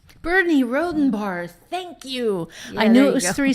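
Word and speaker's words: Rhodenbarr: Okay, so basically let's wrap Bernie Rodenbaum. Bernie Rodenbar, thank you. Yeah, I knew there it you was go. 3 syllables and I could not get there.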